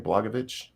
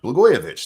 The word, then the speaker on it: Blagojevich: Blagojevich? Blagojevich. I don't remember. Blagojevich.